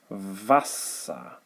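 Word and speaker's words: Wasser: sound the pronunciation is the english v so i'll give you a couple of examples uh color coordinated as usual so thus vasa and the s and the t back in the day of the anglo-saxons they were interchangeable so if you stuck a t in here you would obviously have water that's vassa another one is the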